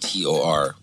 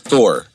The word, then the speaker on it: Tor: Not Thor Project. Yeah, not Thor. Tor. Not like the Avengers. Yeah, Tor.